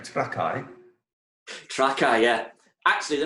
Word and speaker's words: Trakai: Trakai, yeah.